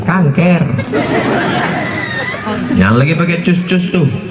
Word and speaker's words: cancer: dalam Jadi Kang kker tulisannya c a n c e r orang barat membacanya Cancer kancer Payah orang kita bilang Cancer kanker yang lagi pakai cus-cus